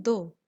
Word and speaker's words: though: THOUGH को हम क्या प्रोनाउंस करते हैं, दो।